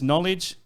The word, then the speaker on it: knowledge: So when you pronounce knowledge, you say the N, the K silent, you know what I mean?